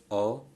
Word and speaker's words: autocrat: Similarly, autocrat, there are three syllables, autocrat. So the stress is on o. Okay.